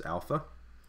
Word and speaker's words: alpha: So alpha will be pronounced a as in father.